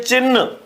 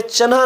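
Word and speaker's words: चिह्न: बार हम बोलते हैं चिन्ह क्या कहते हैं चिन्ह तो ये चिन्ह नहीं होता चिन होता है तो यहां पर न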